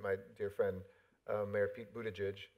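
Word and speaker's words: Buttigieg: dear friend mayor feat Buddha judge and that's how you say his name Buddha Jish for anybody who's wondering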